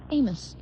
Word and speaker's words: Amos: Amos. Amos. Okay. Tori Amos. We keep saying Amos for some reason. I guess it's spelled that way.